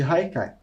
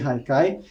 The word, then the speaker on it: Haikai: como vocês podem ver a palavra Haikai como ela é de origem japonesa se escreve com h mas tem esse som de R e muitas vezes pode